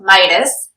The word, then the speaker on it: Midas: So what he's looking for is the hand of Midas. That's how you pronounce it, right?